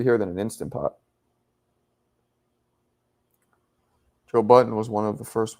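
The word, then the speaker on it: Joe Budden: will confuse you for Joe Buttons. I don't know why you pluralized his name. That's the Honduran pronouncing. It's Joe Button. Honduras are like, "Ah, Joe Buttons."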